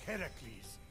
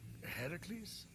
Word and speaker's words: Heracles: So, Phoenix, after boldly besting the Gorgon that ambushed Heracles... What are you doing there? That thing with your voice? Heracles?